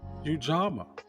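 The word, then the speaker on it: Ujamaa: I didn't take it as such, but it's pronounced Ujama.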